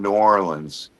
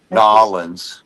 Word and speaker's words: New Orleans: But when we were in New Orleans, Norins, thank you for saying it.